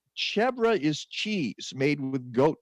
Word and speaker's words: chèvre: All right, well, it's chevre is cheese made with goat milk. It's also the word for goat. Okay, so that's why it's called chevre.